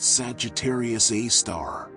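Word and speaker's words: Sagittarius A*: The most interesting was a very compact bright radio source they called Sagittarius Asterisk, pronounced Sagittarius A star.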